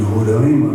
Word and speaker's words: Roraima: a questão da pronúncia, que é que o Sul chama de Roraima, né? E lá é uma vogal mais aberta Horário.